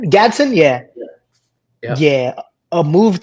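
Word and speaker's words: Gadsden: Honestly, right here though, there's a pick that I like much better, and that's Oronde Godson. Is that how you Gatson. Yeah. pronounce his name? Gadson?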